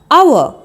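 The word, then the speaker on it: hour: एच ओ यू आर आवर इसमें एच का ह साउंड साइलेंट होता है ओ यू आर आवर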